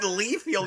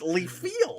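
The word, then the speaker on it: Liefeld: It wasn't even Leefield. It was Leaf Field. in the field.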